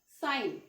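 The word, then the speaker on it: sign: Okay, normal सा word लेते हैं, साइन.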